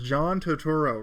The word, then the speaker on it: Turturro: And then tell me, please, nobody's corrected me on this, so I would hate to pronounce it wrong, but it's John Turturro, right?